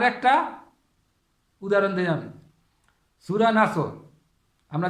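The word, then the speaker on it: نصر: হবে একই শব্দ হবে শুধু খালি মুখটা একটু গোল করবেন আর লম্বা করবেন এটাই ডিফারেন্ট কিন্তু যেখানে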